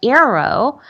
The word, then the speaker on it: Aereo: Starting on May 29th, streaming television startup Arrow will release an updated version of its Android app that includes support for streaming live broadcast television shows to your Chromecast.